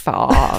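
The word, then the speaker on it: Fouke: So finally in 2008, federal agents raid Tony's house in it's called Faulk, Arkansas. Faulk. Yeah, exactly. Um it's pronounced Faulk.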